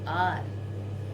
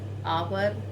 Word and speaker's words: hour: H is silent here.